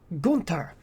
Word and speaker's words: Gunther: after she introduces him as gunter and he pronounces her nine it's gunter and you know they're kind of talking about